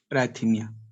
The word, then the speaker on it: अराइथीमिया: Spelling आप लिख सकते हैं ARRHYTHMIA, अराइथीमिया।